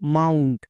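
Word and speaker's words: mount: এর জন্য ওকার সাউন্ড হয়েছে এবার এখানে দেখো মাউন্ট এখানে কিন্তু ও ইউ এর জন্য ওকার সাউন্ড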